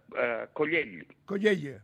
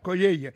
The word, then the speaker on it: Collell: que yo me lío con tanta Ille, ¿cómo pronuncias tu apellido? Collell. Vale. Collell.